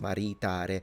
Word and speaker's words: maritare: the phmic vowel length it's both the e and the a second a are long so mari They're both long.